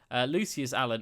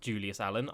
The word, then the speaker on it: Lucius Allen: Lucius Allen is his name. It's not Julius Allen.